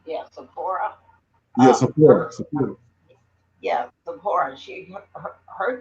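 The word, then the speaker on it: Zipporah: Well, anyway, so uh, Sephora, is that how you pronounce her name? Yeah, Sephora.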